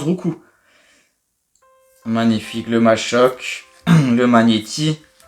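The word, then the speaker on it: Roucool: Le petit Roucou, ce qui se prononce Roucou d'ailleurs. Vous savez ça hein? Je suis pas sûr que vous saviez, ça se prononce Roucou.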